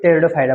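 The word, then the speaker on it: Pteridophyta: कि पी से स इसमें जो पी आपका होता है साइलेंट होता है मेन इसको टेडो फाइड बोलते हैं यहां से कंफ्यूज मत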